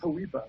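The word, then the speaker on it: HOEPA: on polpa h or i think it's pronounced hawipa which is homeowner equity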